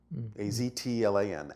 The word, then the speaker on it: Aztlan: But we know that the actual name in its ancient form was simply pronounced Aztlan. A-Z-T-L-A-N, Aztlan.